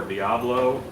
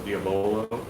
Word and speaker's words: Diabolo: do do some projects diobolo or diablo it's not spelled like diablo though so diabolo um who also runs honkers